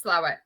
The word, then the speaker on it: Slaithwaite: Otherwise pronounced Slaithwaite, but Slough. Yeah. I'm assured that Yorkshire people call it Slough. It is Slough.